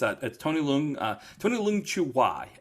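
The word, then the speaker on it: Tony Leung Chiu-wai: I mean, again, it's Tony Leung Chu Wai is how you say it, full name.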